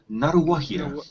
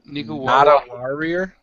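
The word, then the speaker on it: Ngāruawāhia: Naruwahia. Not a warrior.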